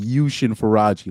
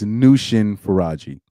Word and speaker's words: Nushin Faraji: I was saying Yushin Faraji like she's freaking Japanese or something. It's Nushin Faraji.